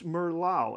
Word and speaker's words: merlot: say that again and the french guy said it's merlau and they went oh okay merlot and there we go that's where you get